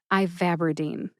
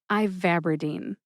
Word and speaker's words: ivabradine: That's that second syllable, VAB. See if you can hear that emphasis when I say it again. Ivabradine. Ivabradine.